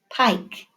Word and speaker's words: pike: which one says pike pike you're right it has to be pink because there's that eye pike and it has a silent e all right taking a